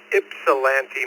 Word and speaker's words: Ypsilanti: It's pronounced Ypsilanti, Michigan.